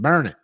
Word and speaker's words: Burnett: to a place called burnett but they pronounce it it's in texas but they pronounce it burn it you know what i'm